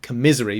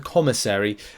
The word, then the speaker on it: commissary: the uh commissary um no commissary I'm saying it wrong my joke was I said it commisary because it was a bit of a misery uh the commissary uh type event is